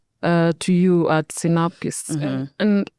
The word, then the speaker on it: Sinapis: Synopsis, synopsis, like it's it's a Latin word for the mustard seed.